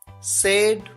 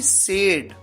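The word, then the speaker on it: said: से सेड सेड सेइंग यहां पर आपको ध्यान यह रखना है कि सेड सैड नहीं सेड क्योंकि अगर आप कह देंगे सैड तो सैड हो जाता है एस ए डी जिसका मतलब होता है दुखी बात करना टॉक टॉक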